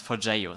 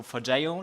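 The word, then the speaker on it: Forgejo: So I want to practice with you how to pronounce forio.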